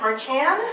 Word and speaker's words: Marchan: Hi everyone, my name is Kat Marchan. For those of you wondering, I pronounce it based on how I say my last name in Spanish.